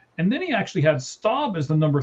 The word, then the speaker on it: Staub: Now, Staub, S-T-A-U-B, I believe it's pronounced Staub, he went 7 of 10, 157 yards.